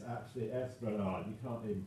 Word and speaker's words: Esplanade: But yeah, it's actually Esplanade. You can't even pronounce it or spell it right.